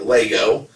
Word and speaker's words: Lego: of people collect lego or i always say legos but like nevada it's pronounced lego so you don't pronounce it i'm